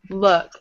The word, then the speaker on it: look: And you have to make sure you're pronouncing them differently. So it's this full pull look versus fool pool Luke bull pool pull pool. You hear the difference?